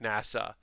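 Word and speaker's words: 星空: like starry sky but his name is pronounced like nasa uh but i just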